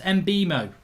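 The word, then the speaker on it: Mbeumo: It's pronounced Mbemo, says Football Overload.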